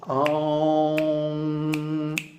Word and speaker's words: Aum: The pranava, Aumkara, consists of 3.5 matras, or letters. A, U, and Ardha matra, the soundless half syllable. So that's why in the musical version, the Aum is very long. Aum, and a half beat of silence.